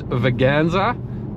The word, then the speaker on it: Veganza: If you pronounce that wrong, it's going to sound like something else, but it's Veganza.